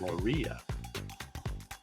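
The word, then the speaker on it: Maurya: this is Chandra gtra morah or Maria I think they pronounce it Maria Chandra gupa Maria he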